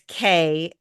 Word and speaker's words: Kandy: I think I can pronounce this Yep. one. Hopefully I'm saying it right. Yes. Yes, you But are. it's Kandy.